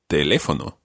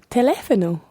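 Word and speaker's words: teléfono: they live on them there's an accent on the second e exactly because what can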